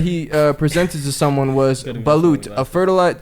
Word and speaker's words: balut: I noticed that one of the foods that he presented to someone was balut, a fertilized.